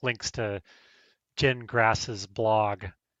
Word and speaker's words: Gingras: GPT like links to Jen Grass's blog. It's pronounced gin like you drink and grass like you mow.